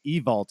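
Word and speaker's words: Ewald: Like I completely understand because my last name Evalt, the Hungarian way is E-W-A-L-D, and it's pronounced Evalt in Hungarian.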